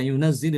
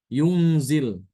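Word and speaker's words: يُنزِل: Kata lafaz ada kata kalau kita jumpai kata yunazzil di dalam Al-Qur'an, maka bacaan Ibnu Katsir adalah dengan mensukunkan huruf nun ya dan zanya itu tidak ditasdid. Yunzil seperti itu.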